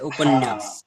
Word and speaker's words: उपन्यास: हाँ, लेकिन जब बोलते हैं तो इसमें डबल न का साउंड आता है, उपन्यास।